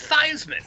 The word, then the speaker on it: Theismann: guess and he says dad how do we pronounce our name he goes oh it's thyseman after the money's cleared